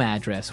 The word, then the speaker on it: address: from your your home address where you live Y and there the stress is on the first syllable address right perfect very good